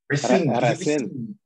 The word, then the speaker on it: Racine: I want the French pronunciation now though. Racine. Racine, you gotta roll the R.